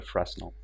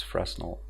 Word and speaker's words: Fresnel: matter if you use Fresnel, or I don't even know how it's properly pronounced, Fresnel, because it's French.